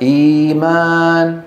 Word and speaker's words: إيمان: إئمان بوزن إفعال فينطقونها إيمان.